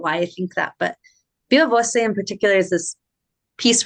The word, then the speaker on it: viva voce: Is that how you pronounce it? Viva Voce, yeah. It's Voce.